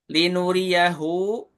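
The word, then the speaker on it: لِنُرِيَهُۥ: Linuriyahu, ini hu-nya bukan domah berdiri, tapi domah terbalik ya. Jadi kayak angka 6. Kalau domah nggak terbalik seperti ini. Linu riyahu. Kalau itu hu. Bacanya gimana? Hu-nya 2 harokat.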